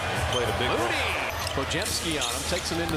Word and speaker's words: Podziemski: Pojemski and friends knocking it away. GP2. It's pronounced Pojemski.